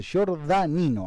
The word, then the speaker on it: Giordanino: se va a equivocar giordanino así se pronuncia ella de 16 años